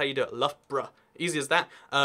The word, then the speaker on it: Loughborough: Loughborough.